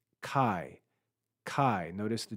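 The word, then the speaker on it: καί: or or lower pitch it's unstressed unaccented it's pronounced Kai Kai notice the D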